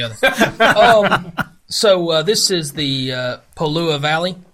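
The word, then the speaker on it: Pololū: so this is the pole ooh a valley it's spelled like polo like the like the Cologne and then Lua lü at the end so this valley is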